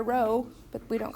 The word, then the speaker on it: rho: That's really rho. R-H-O is how it's spelled in Greek, but who cares? Rho is, P is 0.75.